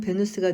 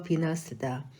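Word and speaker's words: Venus: 아프로디테는 로마 신화에서는 베누스가 됐으며 영어 발음으로 비너스다.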